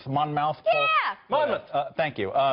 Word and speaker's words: Monmouth: I can't pronounce it right. Monmouth poll.